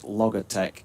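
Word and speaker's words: Logatec: two after seven uh because he he spelled Logitech l-o-g-a-t-e sorry l-o-g-a-t-e-c but pronounced Logitech apparently for all to be honest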